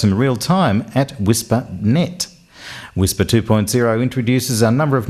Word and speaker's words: WSPR: Now, WSPR, pronounced Whisper, stands for Weak Signal Propagation Reporter.